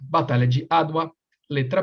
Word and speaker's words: Adwa: Letra A, Batalha de Adwa.